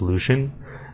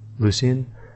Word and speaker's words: Lucien: it like this but some people in a live stream were saying that it's pronounced Lucian but according to DRX it's pronounced uh Lucin Lucian so yeah that's how it is Maat is pronounced